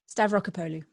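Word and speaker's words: Stavrakopoulou: Very tough to pronounce that one for me. Stavrokopoulou.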